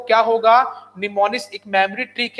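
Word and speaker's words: mnemonics: लेकिन असेंबली भाषा में होता है निमोनिक्स कोड, ठीक है, निमोनिक्स। अच्छा, निमोनिक्स की सर स्पेलिंग गलत नहीं है, यहाँ पे एम साइलेंट होता है, जैसे आप बोलते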